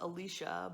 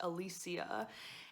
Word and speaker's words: Alicia: a woman named alicia i thought it was alicia but since listening to the audiobook it is pronounced alicia and she as of this moment is currently